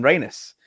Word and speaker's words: Reinis: and there are rain Reynes I am Reynes and okay yeah yeah it's actually like it's